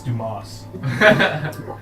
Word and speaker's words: Dumas: Actually Like, pronounced and at the Dumas. end, yeah, he's like, "It's Dumas."